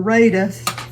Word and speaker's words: Rada: I chopped it with my with my Rada or Raida is the way it's pronounced with my Raa um chopper.